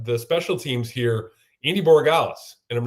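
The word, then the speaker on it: Borregales: know, the the the special teams here, Andy Borales, and I'm not even sure I'm pronouncing his last name right here.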